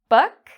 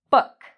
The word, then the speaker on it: book: Boot, book. Which one is longer? Boot is the longer one. Book is very short.